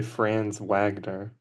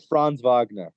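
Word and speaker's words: Franz Wagner: Well, maybe it's the way it like I've heard people say France Wagner, but I don't think you're supposed to say it like that. It's not. It's like Fran Vagner.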